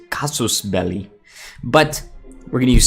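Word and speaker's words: casus belli: CB actually I think the technical pronunciation is cosmos belly but we're gonna use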